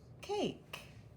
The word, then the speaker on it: cake: we blend this word the a is going to say its name a but when we blend the word the e is silent it won't make a